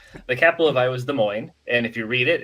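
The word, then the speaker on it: Des Moines: we talk about cities that are hard to pronounce. The capital of Iowa is De Moine and if you read it, it says Desmos, you know, so you'll hear that, too.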